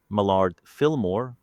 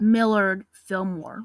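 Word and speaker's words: Millard Fillmore: His successor, Mard Filillmore, lived longer, but his final words were comically mundane.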